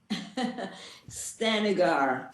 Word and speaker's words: Stanigar: name i don't want to mess it up stanigar stanigar welcome to the show thank you for